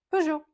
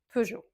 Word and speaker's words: Peugeot: Peugeot. On ne prononce pas le T à la fin et c'est tout simplement peo.